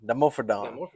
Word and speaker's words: Dimorphodon: Dimorphodon.